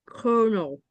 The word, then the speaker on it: colonel: help me with the next word it's konel kernel kernel kernel konel kernel konel kernel and this is how we pronounce it right here I should highlight this